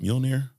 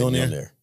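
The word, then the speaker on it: Mjölnir: How do you say it? Mjolnir? I say Mjolnir. Mjolnir. He gave me a spelling here. He broke it down. Mule-near. Mjolnir, whatever the fuck you want to call it.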